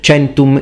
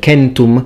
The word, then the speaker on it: centum: even existed, and so we are used to hearing things such as centum instead of centum, centum being ecclesiastical, legionis instead of legionis,